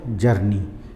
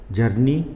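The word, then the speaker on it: Czerny: This is the name of Journey. C is silent, then the correct spelling is C Z E R N Y, Journey retractor.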